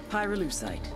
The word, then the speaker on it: pyrolusite: __ ] happened to him you know what pyrolusite is right yeah neither did I Pyrrha lucite hue syllable pyro by the way is the [